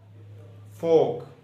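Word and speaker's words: folk: Rule ये है, अगर किसी वर्ड में एल से पहले ए ओ यू आ जाए तो एल साकन या साइलेंट हो जाता है. मसलन वाक, टाक, फोक, फोक कहते हैं लोगों को. साइमन, साइमन मछली होती है. Would, should.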